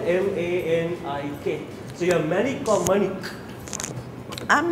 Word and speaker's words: Manik: So you're Manik or Manik? I'm Manik. It's pronounced Manik.